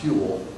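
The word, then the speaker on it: Whewell: e w l l that's pronounced hu I tell my students when I'm doing a history of science class if they can pronounce that I'll give them a name and of course I haven't had a student do it yet I used to think it was rule until I was told it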